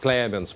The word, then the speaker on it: Clemens: Doutora Clemens, está correta a pronúncia? Clemens, perdão.